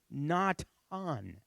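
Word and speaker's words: נתן: those letters okay so how would you pronounce the word is not on and it's the word that is name that we know nathan and it means give okay not on give to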